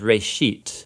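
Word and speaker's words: ראשית: It's pronounced reshit, and it just means beginning.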